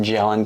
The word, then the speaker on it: gellan: But xanthan gum, I think it's pronounced gellan gum, starts with a G, gellan or gellan gum.